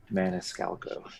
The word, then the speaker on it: Maniscalco: It's like Maniscola or something. Maniscolco. Maniscola. I got him. Okay. Maniscalco. He knows how to pronounce it.